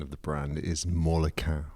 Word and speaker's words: Molequin: Well, okay, so interesting, because you pronounced it just then as a 3-syllable word, and I always say it Molequin as a 2-syllable word, a la Justin Hess.